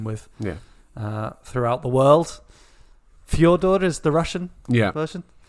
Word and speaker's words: Fyodor: Are we going Fedor? Are we doing whatever you just said was? Or are we doing Fyodor, which is the correct way, isn't it?